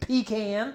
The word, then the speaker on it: pecan: Okay, so it's pronounced pecan.